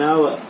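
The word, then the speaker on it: hour: You will get just an आवर to solve this puzzle. आवर, H silent है यहाँ आवर में, यहाँ पर भी एन आया है।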